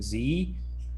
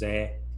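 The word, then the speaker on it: Zé: the other day that americans all pronounce his name zee but in portuguese it's pronounced zeh i think gotcha well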